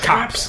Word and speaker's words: copse: A copse? A corpse? Yeah, a copse. It's called a copse.